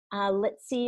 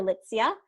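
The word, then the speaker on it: Litsea: And the reason for this is because it has our citrus, wild orange, has lemongrass, it has ginger, litsi or litsia. People pronounce it 2 different ways.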